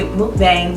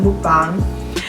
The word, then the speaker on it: mukbang: A lot of people say mukbang, but it's pronounced mukbang.